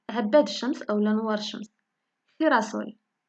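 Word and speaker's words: girasol: ثاني مثال هو خيراسول اللي هو عباد الشمس أو نوار الشمس خيراسول. هنا أيضا مع الحرف خي شي مرات كيتنطق ق بحال غاتو شي مرات كيتنطق خي بحال خيراسول.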